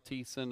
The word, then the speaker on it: Thiessen: you can hear us we've dropped the H and are pronouncing your last name properly Daryl Thiessen aboard number seven Southwind